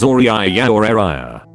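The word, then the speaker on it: Auriah: show how she said she wanted to spell it as auri ayah i did a double take reading that word too but apparently people are supposed to read it as uriah she asked me how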